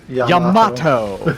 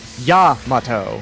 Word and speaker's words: Yamato: words for example for people say Yamato so hard instead of Yamato which is how its most pronounced but the first syllable stressed yeah speaking about Japanese